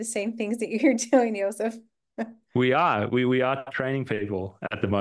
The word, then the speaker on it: Josef: Josef on YouTube, but it's spelt in the German way. So it's Josef.